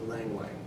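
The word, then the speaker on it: ylang-ylang: fragrant flower it's felt yelling yelling what is pronounced lang lang it's a fragrant flower and it has some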